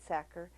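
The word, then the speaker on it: Sachar: his name wrong sacker pronounced sacker like someone who stuffs potatoes in sacks writes funny books he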